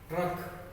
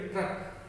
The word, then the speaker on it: ट्रक: इसका भी यही नियम है, उच्चारण के समय पहले मूल वर्ण का हम उच्चारण करेंगे, उसके बाद में र का करेंगे। नीचे लग भी रहा है ट्रक, इसको कैसे पढ़ेंगे, ट्रक।